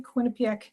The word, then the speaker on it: Quinnipiac: We have received approval from my university, Quinnipiac University, which you pronounced absolutely correctly.